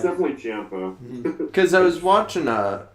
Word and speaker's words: Ciampa: I always say Ciampa too. I say Ciampa too, but apparently it's Ciampa, like Tampa.